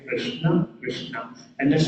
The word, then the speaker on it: Krishna: So if you've learned some sort of pronunciation it is pronounced Krishna Krishna and let's say as N has a dot below because it's not an Kishna Krishna then that comes what comes with the